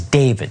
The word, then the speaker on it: D4VD: car belonging to the pop star known as David spelled with a four.